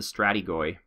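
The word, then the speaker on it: strategoi: and all of the strata guy or stratego I'm sorry someone told me how to pronounce that correctly all the stratego fell wow so many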